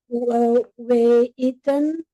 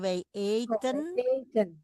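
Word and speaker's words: eten: Eaten goreng. Oke. We at een tapi bukan eaten tapi bacanya aten nasi goreng.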